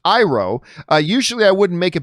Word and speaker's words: Iroh: I was just watching it last night because I heard somebody else say to me, it's that Iroh's name is actually pronounced Iroh.